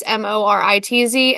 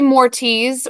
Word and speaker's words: Moritz: They would say Mortiz or Moris, like Morris. I had never got the Z, but it's okay.